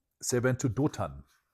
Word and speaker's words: Dothan: I think they went towards, I think Toga was the name. Let me look it up. So say it right. They went to Dothan.